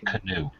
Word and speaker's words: Keanu: I believe it's pronounced canoe. Canoe Well, Reeves.